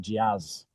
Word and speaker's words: Jaz: Today we're joined by Yaz. How you doing, Yaz? It's actually Jazz. You pronounce it like the music, but it's just onesie.